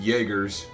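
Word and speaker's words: Jaeger: so some Third Rate Jaggers for the uninformed of jger is a mercenary and yes that is pronounced Jagger it's the Germanic pronunciation talk about pointlessly fancy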